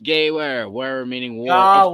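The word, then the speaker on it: Gewehr: Gawer is pronounced Gayware. Where meaning war. Gawar. Of course. Gawar 38. Gawar 38. Yeah. Mid-range Fucking sniper A. rifle. W is pronounced V in German.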